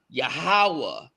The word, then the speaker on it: Yahweh: So now you got the ya, the ha, and the wa, and the H is silent. Yahweh, you welcome.